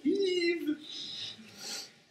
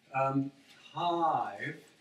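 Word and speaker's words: Hiive: There's a job site called Hive with two I's that's run by Creative Skills Center. So I always want to pronounce it Eve, but I'm immature. Hive.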